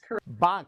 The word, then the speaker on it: Bhang: We call it Bhang in the U.S. I know it's a U.S., but it's derived from an Indian word, yes? Correct. Bhang.